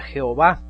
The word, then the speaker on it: Jehová: En nuestras Biblias tenemos la J y se pronuncia Jehová. La H obviamente en español no suena, es muda, le llamamos muda.